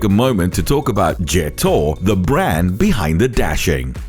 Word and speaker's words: Jetour: Meet the Jetour Dashing, or Jetour as it's actually pronounced.